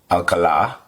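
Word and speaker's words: Alcalá: Alcala, because I know the accent is on the last syllable for his name.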